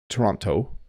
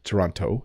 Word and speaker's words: Toronto: tomorrow so we really native Ontario English speakers really mush it down Ontario is the province I'm in but you should say Toronto Toronto some people if you're from Britain I hear people from Britain often say I'm going to go to Toronto Toronto and they make the te but in Ontario